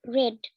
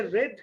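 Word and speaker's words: read: উচ্চারণটা হবে রেড কিন্তু বানানটা হবে সেম। তাহলে উত্তরটা হবে এটা বি। দেখো অনেকে কিন্তু এটা উচ্চারণ অনেকেই ভুল করে আর কি। অনেক দেখি যে আমি ইউটিউবে দু একটা ভিডিও দেখি, সেদিন দেখি এক টিচার মনে হয় ক্লাস নিচ্ছিলেন, বলতেছেন এটা রিড, রিড should be রিড।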